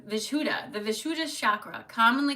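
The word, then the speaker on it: Vishuddha: v i s h u d d h vishuda vishuda the vishuda chakra commonly called the throat chakra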